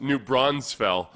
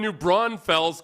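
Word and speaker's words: New Braunfels: try to correct you and say, "No, it's pronounced New Bronzefell." No. God, no. Oh, people from New Bronfells call say New Bronfells, but there's people in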